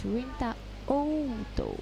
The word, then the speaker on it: Rinta Oto: I remembered asking him how to pronounce his name, and he said it's Rinta Oto.